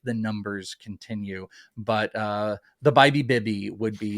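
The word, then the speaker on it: Bibee: Tanner, I believe it might be said Bybee. Oh, really? Bybee. Yeah, that's what buddy Frank Stanfield told me that the pronunciation, we keep going back and forth about it. I thought it was Bibby.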